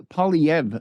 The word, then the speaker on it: Poilievre: Likely Poilievre. So the R-E are silent at the end, as I would know if I were more cultured and spoke.